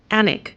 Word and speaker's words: Alnwick: The castle's name is Anglo-Saxon for the farm or trading place on the Aln River and is pronounced Alnwick.